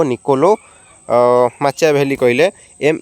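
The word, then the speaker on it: Machiavelli: Prince पुस्तक के लिखने या आंसर हो निकोलो माचिया वैली ओके स्पेलिंगाने प्रोनाउंसशन कर मनख एन आई सी ओ एल O Niccolo माचिया valley कले एम ए सी एच ए आई ए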